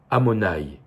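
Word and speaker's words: Adonaï: commentaire de Rashi que le nom de Dieu yudkevavke on n pas le droit de le prononcer comme il est écrit au lieu de lire you kevfke avec les voyelles que vous connaissez on lit amonaï et en fait tout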